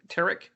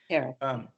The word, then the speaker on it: Tariq: I'm sorry, is that how you pronounce the Tariq? Tariq.